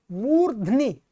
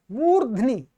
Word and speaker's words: मूर्ध्नि: मूर्ध्नि, मूर्ध्नि, रेफ भी आधा है, ध भी आधा है, और ये ई की मात्रा वो न पे है, ध्यान रखेंगे। ये लिखने में ऐसे लगाते हैं, यहां पर ये न के बाद है, मूर्धनि।